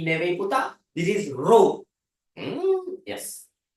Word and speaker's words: rho: This is rho. Yes. It's a Greek symbol. Rho. Greek symbol. That's how you pronounce it.